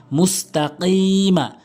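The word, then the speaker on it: مستقيم: মুস্তাকি, মিম জবর মা, মুস্তাকিমা, মুস্তাকিম, কফটা অনেকেই ভুল উচ্চারণ করে কাফ উচ্চারণ করে, কিম বলে, কিম বলতে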